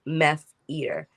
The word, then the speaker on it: MeFeater: fashion is that addicting let's pronounce it like meth eater because this is something